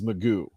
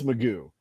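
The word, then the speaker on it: McGough: whatever um it turned out his pronounce his pronunciation of his name is Magoo that didn't look like Magoo at all they don't look like no Magoo no apparently it's Magoo but he did all right he had he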